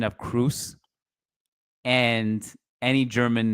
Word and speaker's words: Kroos: Kroos, yes, but Kroos, as in cruise ship, no.